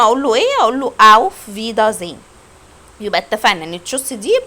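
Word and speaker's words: Auf Wiedersehen: طب النطق الصح ايه؟ اوف فيدا زين.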